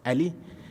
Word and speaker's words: a11y: So in my title, you would have seen A11Y, pronounced Ali. That is a numeronym. I think that's how you say it.